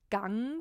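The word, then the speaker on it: Gang: So in German, there's actually a word that's G-A-N-G and it's pronounced Gung, but I typed it out in the title as G-U-N-G because in English, the U is more like a ah.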